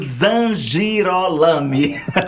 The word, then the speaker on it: Zangirolami: dimisa vou já perguntar para ele se a pronúncia tá correta Ele ama Timon é evangélico e eu tô falando do Carlos zangirolami é isso é isso mesmo Carlos Z girol